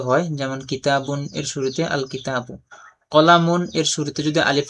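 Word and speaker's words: الكتاب: তো কিতাবুন এর শুরুতে যদি আলিফ লাম যুক্ত করা হয় তখন এখানে আল কিতাবু লামটা উচ্চারণ হবে।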